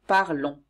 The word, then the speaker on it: parlons: Pour nous, on ajoute ONS et on prononce on. Nous parlons.